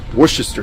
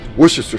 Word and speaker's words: Worcestershire: of the po' boy sauce, and that is Worcestershire sauce. Said it right that time. Worcestershire sauce.